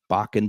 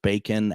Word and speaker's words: Bakun: And so bacon, obviously, first of all, is what, Bakun being my last name, it's pronounced bacon accidentally quite a bit.